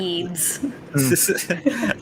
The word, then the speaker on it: Yeats: I can remember, but I feel like it's something like William, something P, and then something that sounds like Yeats.